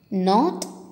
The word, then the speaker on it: knot: letter வந்து silent okay children க்னோ க்னாக் க்னாப் அப்படின்னு சொல்லக்கூடாது இதை ப்ரொனவுன்ஸ் பண்ணுறது தப்பு அப்படி ஸோ இந்த வேர்ட்ஸில் இருக்கிற கே வந்து சைலண்ட் லெட்டர் இப்போ சொல்லாமா நோ knock knob knife knot knee knit knee இப்படி தான் இதை ப்ரொனவுன்ஸ் பண்ணும் ஓகேவா இப்போ கே மட்டும் கிடையாது